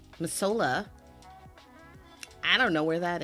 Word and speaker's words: Missoula: It's pronounced Missoula. It's not Missoula. Missoula.